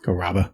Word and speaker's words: Carrabba: Another thing that I'm going to go ahead and talk about is it Chris Carrabba? Carrabba. That's how he pronounces it.